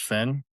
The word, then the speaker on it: Theon: match with is it Fion or is it Believe it's pronounced Finn, but it's Finn? spelled Theon, yeah.